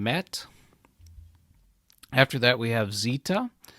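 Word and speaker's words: Ζήτα: after that we have Zeta Zeta is pronounced like the Z in Zeal after that is ITA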